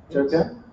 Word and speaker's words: Turcan: Turcan, is that how you pronounce it? Turcan. Turcan.